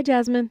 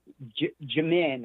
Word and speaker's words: Jamin: Hi, Jasmine. Good morning. Oh, Jamin. Excuse me. I put an S in there that wasn't in there. Hi, Jamin. Yes, ma'am. Jamin, actually, is how you pronounce it.